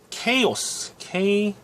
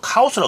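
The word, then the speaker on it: chaos: 퓨레 플립은 어떻게 하는 것에 대해서 설명을 했는데, 자, 우리가 말하는 퓨레 플립, 그리고 케이오스. 누가 카오스라 그러더라고, 이거 영어식 발음 아니죠. 원래 케이오스입니다.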